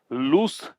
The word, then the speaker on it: loose: लूस cannon, लूस बोलते हैं इसको, लूज नहीं बोलते। LOOSE का प्रोनाउंसिएशन लूस होता है, लूज नहीं होता।